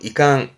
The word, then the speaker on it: 遺憾: 요거는 유감 발음은 이강 이강 유감의 감이구나 요거면 됩니다.